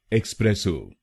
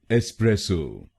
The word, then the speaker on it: espresso: है जो कुछ लोग गलत बोलते हैं, जैसे एक्सप्रेसो। आइए जानते हैं इसकी सही प्रोनाउंसिएशन। इसकी सही प्रोनाउंसिएशन है एस्प्रेसो। एस्प्रेसो। इस शब्द में 3 शब्दांश हैं। पहला शब्दांश है ई, दूसरा शब्दांश है SPRESS और आखिरी शब्दांश है ओ।